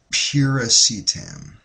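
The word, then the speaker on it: piracetam: this substance I got here this is called pacam it's spelled p i r a c e t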